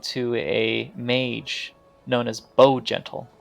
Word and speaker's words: Bow Gentle: a mage known as Bow Gentle. It's literally as it's spelled, Bow as in BOW and then Gentle.